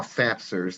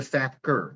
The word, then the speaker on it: SAPCR: So you can learn about what we call SAPSers. Don't listen to anyone who calls it a SAPCR. They're mispronouncing it.